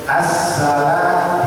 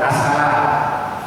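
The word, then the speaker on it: السلام: Assalam di atas ada sabdu. Assalam bukan asala. Asala assala ada sabdu. Assalamu. Kemudian yang terpenting makrud huruf ain jangan dibaca alif.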